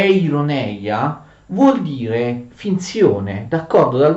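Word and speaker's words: εἰρωνεία: Ironia, fate attenzione, ironia in greco è ironeia, vuol dire finzione, d'accordo?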